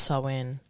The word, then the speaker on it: Samhain: I believe it's Samhain. I'm not a good pronunciator. And during the 12 days of Yule. Yeah, it's Samhain.